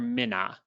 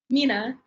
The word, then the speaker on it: Mina: Okay, is it pronounced Mina or Minna? Mina.